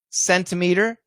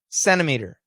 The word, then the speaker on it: centimeter: they'll say center winter if we say it fast winner centimeter centimeter the t's gone sentence we say sentence